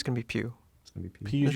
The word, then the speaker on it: Pugh: How do you say her last name? I'm gonna say Pugh. I'm almost positive it's Pugh. How do you Like spell Pepe it?